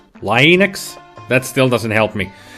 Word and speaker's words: Linux: Named after the creator of the Linux kernel, Linus Torvalds. And his first name is pronounced with a hard I, so Linux.